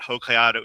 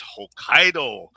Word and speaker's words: Hokkaido: It's not Hokkaidato, it's Hokkaido. And and in the movie,